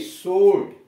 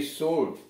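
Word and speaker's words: sword: एस डब्ल्यू ओ आर डी, सूट, एस डब्ल्यू ओ आर डी, सूट। इसमें भी देख रहे हैं डब्ल्यू साइलेंट है, यानी यहाँ डब्लू का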